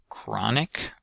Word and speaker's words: chronic: Uh third word is chronic. chronic chronic That's another example of the ah vowel. And then uh it's not chronic or something like that. So stress is on the first syllable.